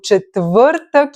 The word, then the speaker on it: четвъртък: So четвъртък, it's a very good example. Repeat after me. Четвъртък. Okay? Saying it with an open mouth slowly can help you pronounce all the letters and be understood.